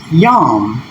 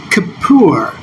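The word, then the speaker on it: Yom Kippur: And this transcription is Yom. That's how they pronounce it. And they also do the next 3 letters for atonement as Kippur.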